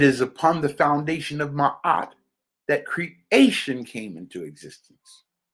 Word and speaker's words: Ma'at: Well, it is a statue of Ma'at, and that's spelled M-A-A-T.